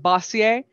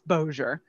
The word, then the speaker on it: Bossier: which will be pronounced shreveport and bossier it's like no honey that's that's where the french doesn't kick in it's bozier thank you um my